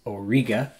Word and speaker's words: Auriga: appreciate that v winter constellation is called Auriga the correct pronunciation is Auriga this represents the charioteer